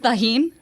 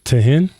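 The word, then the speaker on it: Tajín: why because it's not spicy no because it's pronounced tahin tahin it's it's tahin it's I said tahin no you say to no I didn't yeah you did toin yeah I didn't say toen you said toin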